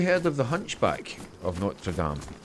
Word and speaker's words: Notre Dame: How would you pronounce that? Oh, yeah. Hunchback of Notre Dame. You're talking about Is that Is that how you pronounce it? Is that how you pronounce it? Yeah.